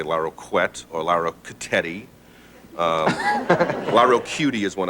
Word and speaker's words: Larroquette: Now, you say it. Larroquette. Larroquette. 3 syllables.